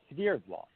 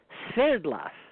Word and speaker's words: Sverdlov: Russian name, but in the United States it's pronounced Swerdlow, but in Russia it's Sverdlov. Could you say that again in Russian? Yes, Sverdlov. Sverdlov.